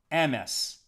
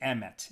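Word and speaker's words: אמת: The top word, emes, aleph, mem, taf. Emes, or some people would pronounce it emet in modern Hebrew.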